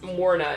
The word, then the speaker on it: Morna: it's Taffy okay Connor it's Morna it's like mourn but with flair good morning yes morning